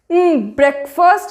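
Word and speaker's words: breakfast: इट्स नॉट ब्रेक और फास्ट, इट्स ब्रेकफास्ट, ब्रेकफास्ट। बहुत relax होके बोलना है आप लोगों को, ब्रेकफास्ट।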